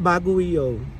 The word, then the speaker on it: Baguio: bago baguo mag-iikot kami sa bago bagoo It's pronounced bagoo so first stop is strawberry farm si Mother